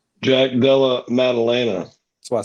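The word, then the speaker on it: Della Maddalena: win so I didn't have to attempt to pronounce his name Jack Della madalina Jack Della madalena that's what I said and don't forget don't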